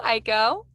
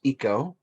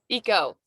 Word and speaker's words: Ico: oh hello aiko hello uh and it's pronounced eco eco hello eco hello uh and for i'm really